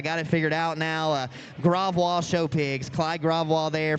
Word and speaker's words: Gravois: me a couple years to actually learn to pronounce his name right, but I got it figured out now. Gravois show pigs, Clyde Gravois there from eastern Louisiana, I should say there.